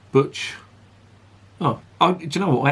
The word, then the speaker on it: Cwtch: It's pronounced butch.